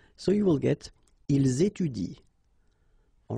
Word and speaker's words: étudient: the same rule because you don't pronounce this e, and then even if it's at the plural form, so e n t, well, you don't pronounce it. So you will get ils étudient.